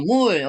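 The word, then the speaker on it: 물: Mul, oke. M, U, ini L menjadi 받침 jadi L gitu ya.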